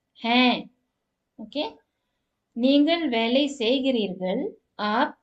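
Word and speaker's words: हैं: எப்படி ப்ரொனவுன்ஸ் பண்ணணும், ஹேன்.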